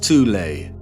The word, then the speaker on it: Thule: society within germany called the thol society sometimes alternatively pronounced tulay that had sub-factions within